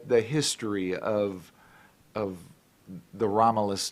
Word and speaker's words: Romelus: and and you say Romulus I say Romulus even though it's an e yeah even though it's